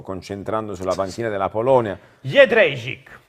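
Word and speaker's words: Jędrzejczyk: Jedrzejczyk è il numero 3, giusto Emanuele Bernardo? Più o meno, qual è la pronuncia? Ok, è Jedrzejczyk.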